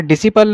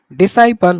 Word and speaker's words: disciple: ये क्या है, डिसाइपल, इसे डिसिपल नहीं बोलेंगे, करेक्ट जो प्रोनाउंसिएशन होगी इट इज डिसाइपल, मतलब उसका शिष्य या चेला।